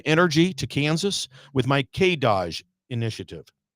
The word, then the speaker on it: K-DOGE: So, I'm going to bring that same energy to Kansas with my K Doge initiative. K Doge, I'm getting a nod over there. Yes, that's how you pronounce it.